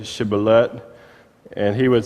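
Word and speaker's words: shibboleth: to him then say Sheba let and he would say Sibley it's a direct transliteration from the Hebrew in other words they couldn't pronounce the SH they would just say it with the S it's actually two different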